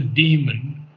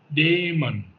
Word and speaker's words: daemon: Now the daemon, uh, don't want to pronounce a demon because Mm-hmm. that's an evil thing. It's a daemon, daemon, Mm-hmm.